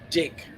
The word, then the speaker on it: deck: It's the way they pronounce certain letters. So, for example, if you're going to have your mates over for a barbie, you're going to have your barbie sitting on a dick.